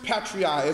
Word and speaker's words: patriae: you all about Black's Law Dictionary right parens patriae spelled PA are in this the second word